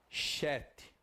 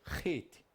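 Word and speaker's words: חית: Não pronuncia-se Chet. Pronuncia-se Ret. Igual o Re, Ret. Alguns falam entre R, né? Mais cultural. Re. Como se fosse quase dois R's, tá?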